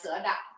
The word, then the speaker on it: sữa đặc: Soup dog. Oh, excellent. Yeah, sữa đặc. Soup dog. Soup dog. It's very difficult to pronounce the tones of the Vietnamese words.